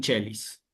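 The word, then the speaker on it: caelis: Pero Irma, te cuento, en cuanto a chelis, que implica la utilización de la C con dos vocales seguidas, la has dicho bien, ¿sí? Pater noster quies in chelis, ¿sí?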